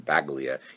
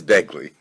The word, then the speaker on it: Begley: I mispronounced his name before and I called him Baglia. He didn't mind being called Italian, but his name is Begley.